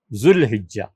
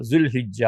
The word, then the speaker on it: ذوالحجہ: ذوالقعدہ کو رکھا ہے، ذوالحجہ کو رکھا ہے، ذوالحجہ دونوں تلفظ ٹھیک ہے۔ تو ارشاد فرمایا کہ ذوالقعدہ، ذوالحجہ و محرم، اور 4تھا مہینہ اللہ نے محرم